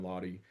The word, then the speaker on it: Laude: It's just my name, Lahy, on YouTube. I've got an Instagram, too. I'll sometimes spell my name phonetically, L A W D, so it's clear how to say it.